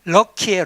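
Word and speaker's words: 락희: 이 사람들이 조선 재련을 불화받아가지고 락키 화학, 락키를 한자로 쓰면 락키인데 발음이 럭키예요. 럭키, 영어 럭키.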